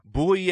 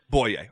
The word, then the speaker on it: Bouye: getting it right I've heard something to say boolie a boy yay what what is the exact way to say your name right is boy a boy yay okay that's that's what I've read just wanted